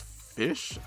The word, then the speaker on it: Ghoti: deck profile on mutant goatee or mutant fish uh since goatee is technically supposed to be pronounced fish I think at least